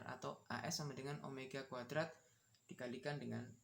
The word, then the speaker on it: omega: Omega itu bacanya omega ya, bukan V.